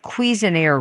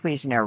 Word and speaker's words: Cuisenaire: Another manipulative would be Cuisenaire rods. And it's spelled c u i s e n a i r e.